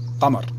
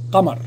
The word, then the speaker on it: قمر: Moon is in Arabic is قمر.